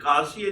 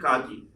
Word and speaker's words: quasi: It is pronounced in two ways, Kasi and Kaji.